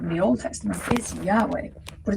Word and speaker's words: Yahweh: the Old Testament is Yahweh, but it's spelled without vowels, so it's YHWH. Now these letters make up the exact sound of a breath, where Yah is the inhale and Weh is the exhale.